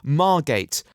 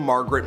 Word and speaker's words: Margate: not find elsewhere and he can't even pronounce the school's name despite having an image of it on screen it's Margate which led to him getting expelled from Margaret Mills school MA gate margaret ma gate margaret even